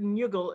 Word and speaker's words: Njuggle: And so there's the word Njuggle, it's spelled N-J-U-G-G-L-E, Njuggle. Seems to be part of a Germanic etymological package of Nocken and Nuk and Nix.